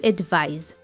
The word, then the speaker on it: advise: remember that the verb is spelled with the letter S and is pronounced with the z sound to advise so you can give